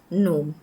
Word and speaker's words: gnome: The G is supposed to be a silent one again. So we pronounce the word such as gnome.